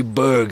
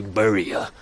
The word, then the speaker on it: berg: As the Swedes may call it, they say the G different. They don't say Berg out in Sweden, they say Buria. So they roll the end of that shit. It's not a hard G. They don't do the hard G.